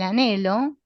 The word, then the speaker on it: anhelo: Este anhelo que se escribe con esa H muda intermedia.